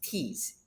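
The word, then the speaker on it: τις: T-I-S, but the pronunciation is tease. T-E-E-S, tease.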